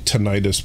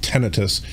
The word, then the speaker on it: tinnitus: i i don't know i've always called it tinnitus but i guess it's actually pronounced tinnitus i've always had a